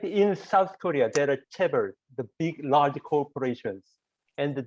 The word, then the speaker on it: chaebol: So look at and I'm sorry, I know chaebol, but pronounce it correctly for me. Chaebol is okay. Chaebol, it's chaebol. okay.